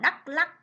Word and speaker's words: Đắk Lắk: Đắk Lắk, các con chú ý cho cô vần ắc, đọc là Đắk Lắk.